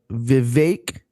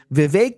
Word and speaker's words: Vivek: And then there's this guy, Vivek Ramaswamy. Rhymes with cake.